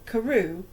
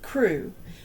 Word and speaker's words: Crew: Madame Pascal pronounced it as if it were Carew instead of Crew, but that might merely be a matter of pronunciation.